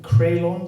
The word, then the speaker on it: Creulon: That is how you say Creulon, isn't it? Creulon, yeah. Yes, So excellent. Welsh word, yeah.